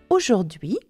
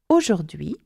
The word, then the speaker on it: aujourd'hui: So, aujourd'hui, today, aujourd'hui, nous allons apprendre les jours de la semaine et les nombres.